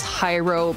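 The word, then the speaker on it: Jairo: so he is um his name is hyro Mendes it is his first name is spelled j a i r o Mendes and if you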